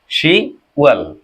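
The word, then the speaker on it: 시월: তারপরে কি আছে, 10 মানে কি শিপ, কিন্তু এখানে কি আছে, শুধু শি, তাহলে কি হবে, শি ওয়াল, শি ওয়াল।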